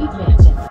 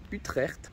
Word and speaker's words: Utrecht: Aujourd'hui, juste contexte, je suis à Utrecht, à ne pas prononcer Utrecht à l'allemande, et c'est une ville au sud de Amsterdam.